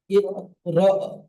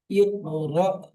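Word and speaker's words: اقْرَأْ: হামজা সাকিন, সাকিন ওয়ালা হামজাকে ঝটকা দিয়ে উচ্চারণ হয়, যেমন ইকরা। জি, আবু আব্দুর রহমান খান ভাইজান মিউট করবেন, আব্দুর রহমান খান।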